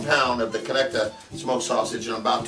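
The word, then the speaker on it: Conecuh: We've got our, how do you pronounce this? Connecta? Connecta, right.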